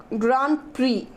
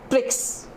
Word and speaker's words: Grand Prix: will introduce the Indian grand okay this is pronounced as Grand Prix Prix okay not BRICS okay so and what is the meaning you